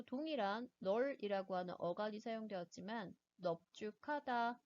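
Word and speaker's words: 넓죽하다: 마찬가지로 동일한 널이라고 하는 어간이 사용되었지만 넙죽하다, 넙둥글다의 경우에는 리을이 아니라 비읍 대표음으로 발음을 하게 됩니다.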